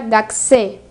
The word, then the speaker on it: gakusei: G se escribe gakusé gakusei, pero se pronuncia gxé.